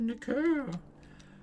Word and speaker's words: Nicaea: It's pronounced Nicaea.